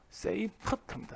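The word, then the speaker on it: Seyfert: 난 맨날 세퍼이드하고 발음 헷갈리는데, 세퍼이드는 그냥 별 이름이에요. 별. 얘는 그냥 별 이름이고, 세이퍼트입니다. 세이퍼트.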